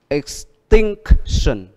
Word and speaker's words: extinction: Đó, extinction, extinction, extinction. Extinction. Vậy âm nhấn ở chữ gì? Think.